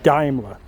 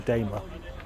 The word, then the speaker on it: Daimler: not a jack but a daimler or daimler as some people pronounce it i think i prefer daimler but maybe that's wrong what a lovely looking